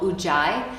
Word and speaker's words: Ujjayi: If you take yoga classes, you might be instructed sometimes to create a specific kind of breath called Ujjayi, and that's spelled U-J-J-A-I.